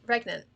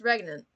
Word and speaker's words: regnant: it's not is it is it reagan i thought it was pregnant oh how do i pronounce the word pregnant yeah no it's regnant there isn't it's two syllable word pregnant oh so hello